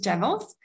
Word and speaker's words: Jevels: company yeah so um we pronounce uh tools uh or virtual jewels for us is javels and this is also the name of the company um it's uh actually